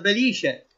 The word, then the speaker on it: Belice: Vastè della Valle del Belice, famosissima questa qua, vedi, con l'accento sulla I.